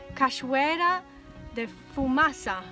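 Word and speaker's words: Cachoeira da Fumaça: famous waterfall here and i think i'll be pronouncing it wrong it's kashwera de fumasa not fumasa okay there you go and from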